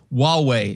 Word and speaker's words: Huawei: Huawei is how they say to pronounce it. Huawei.